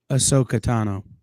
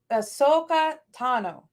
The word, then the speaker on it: Ahsoka Tano: right can somebody please tell me how to pronounce her name again because apparently I've been saying it wrong this whole time Ahsoka Tano uh so so no no put it all